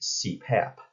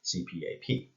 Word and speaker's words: CPAP: to say cpr and an acronym is an abbreviation that can be pronounced as a word so in cpr you